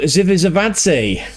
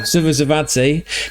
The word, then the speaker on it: Zivzivadze: It's the Georgian Budu Zivzivadze. That'll do, won't it, Gonzo? Zivzivadze.